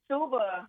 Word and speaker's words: Asuaba: You're CEO of United Community Solutions, and some of your projects include the, am I pronouncing this correctly, Asuaba Water Project? Yes, the Asuaba Water Project.